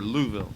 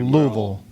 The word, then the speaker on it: Louisville: Louisville or Louisville? Well, you have to say it like you have marbles in your mouth. Okay, Louisville.